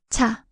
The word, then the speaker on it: 차: Example with the vowel a, this forms pronounced chas in cha. 차, 차.